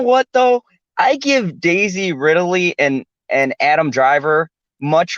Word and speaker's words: Ridley: it ripoli an alien no you say Ripley yes I say Ripley now it's the same thing except with the D Ridley not riddle e riddle e [ __